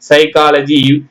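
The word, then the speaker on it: psychology: இப்ப பாருங்க பில பார்த்தீங்கன்னா பி விட்டுட்டு தான் படிக்கணும் சேர்த்து படிச்சா வராது இப்ப படிச்சு பார்க்கலாங்களா இப்பு சைக்காலஜி இப் சைக்காலஜி வரும் நான்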